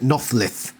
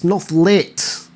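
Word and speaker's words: Nothlit: even get nolit right for some reason ax pronounces it Noth it's nolit nitpicky I know but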